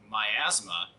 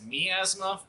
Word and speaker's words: miasma: I say that because I've been saying that album wrong, or that word wrong. I've always pronounced it as miasma for years, up until I kept seeing the word miasma just get spewed all over the place, and I think that's just because of COVID. Now, this is the album